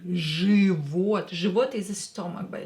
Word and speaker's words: Живот: Живот, so don't try to pronounce it as живот or something else. No, pronounce it as живот with I, but write I here, because Ж does not support I after it. Живот.